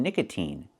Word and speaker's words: nicotine: And the second word is nicotine. So sometimes it's pronounced with the e sound like green beans like in nicotine.